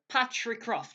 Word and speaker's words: Patricroft: Patricroft.